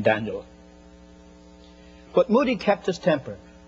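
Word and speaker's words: Dan'l: Have you ever heard of Daniel Boone, Daniel Webster? In those days, they spelt the name D-A-N apostrophe L. They pronounced it in one syllable, Daniel.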